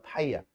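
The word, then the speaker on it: φ: 그래 둘은 외국 사람들은 잘 구분할 텐데 우리는 둘 다 파이야. 파이 둘 다 파이입니다.요 파이.요 녀석은 그냥요 파이. 오케이? 아무튼 읽을 때 파이라고 읽으시면 돼요.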